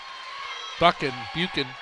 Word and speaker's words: Buchan: And Buchan. I don't know how to pronounce that one. Sorry. It's Buchan.